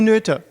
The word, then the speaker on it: Noether: Emmy, Netter, Emmy. Emmy Noether. Oh, you're right. So sorry, my pronunciation is super bad.